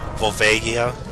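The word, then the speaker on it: Volvagia: to be pronounced uh volia with the G being a hard G I mean just think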